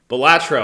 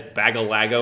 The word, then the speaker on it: Balatro: is the objective of batro batro I'm so glad you pronounced it properly because I know you've been intentionally you've you've intentionally been trying to get it to stick in your head as bagal Lago or something so it took